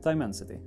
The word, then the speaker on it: Dimensity: Dimensity? Nej, hur uttalar man det? Jo, Dimensity. Jag har aldrig uttalat det ordet tidigare, men Dimensity 1200 AI som är då MediaTeks flaggskeppssensor.